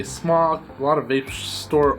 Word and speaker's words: SMOK: Soooo today we got the ultimate smok vapes, smoke, some people are telling me it's pronounced smoke I heard a lot of people say smok a lot of vape